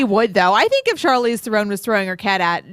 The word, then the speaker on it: Charlize Theron: Anyway, Okay, Charlize, so Charlize Theron, which is apparently the correct pronunciation according to Justin, who would bang her.